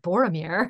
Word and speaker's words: Boromir: the people's names because I didn't pronounce it Boromir I'm sure it's pronounce it like barometer or whatever and I couldn't